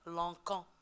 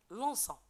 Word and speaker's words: lançant: Parce que si on n'ajoute pas la CD, on va prononcer ce verbe lanquant. Et c'est une réponse fausse. C'est pour cela on ajoute la CD pour la prononcer lançant.